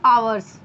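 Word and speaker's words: hours: तो kite for 2 आवर्स, ध्यान रखिएगा इसको हावर्स नहीं आवर्स पढ़ते हैं, यच जो है साइलेंट है।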